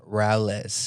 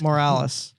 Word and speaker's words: Morales: You mispronounced that again. Morales. Morales. Why did I say Sound like you Moraz?